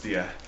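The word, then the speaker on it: Dyea: that right because uh anybody else would call it Dia but um it's Dia locally uh which is any you know locally is the is the correct name for it um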